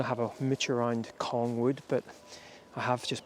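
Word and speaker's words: Cong: a little village called Kong I think that's how you pronounce it c-o-n-g exited in doing so I have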